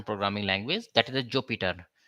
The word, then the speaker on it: Jupyter: language that is a Jupiter. Some uh pronounce uh Jupiter, some pronounce Jupiter. So I'm pronouncing Jupiter notebook in Python ideally.